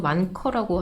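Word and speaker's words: 万科: 계속 이런 악재들이 터져 나오고 있고 차이나 반케라는 회사가 있는데 중국 발음으로는 완커라고 하는데 헝다만큼의 위기는 아닌데 작년 순이익이 46% 줄었어요.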